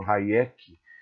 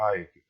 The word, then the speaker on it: Hayek: Muitos pronunciam Hayek, mas não é correto. A pronúncia correta do nome dele é Hayek.